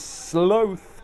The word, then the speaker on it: sloth: other day, she said, why do you say it sloth when it's written like cloth or moth or froth? I'm paraphrasing. To which I said, how do you pronounce both?